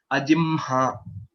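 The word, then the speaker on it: अजिह्म: Because of a special pronunciation that we are following. Ajimha. Okay. Yes, that is the right way of pronouncing it.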